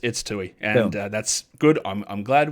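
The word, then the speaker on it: Toohey: I've been saying Tui. Is it Tuhe? No. It's Tui.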